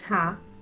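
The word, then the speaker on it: ह: It is pronounced as Ha, just like the Ha in the English word hat.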